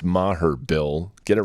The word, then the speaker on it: Maher: seriously though it's easy to say and it's pronounced Maher Bill get it right oh that's a good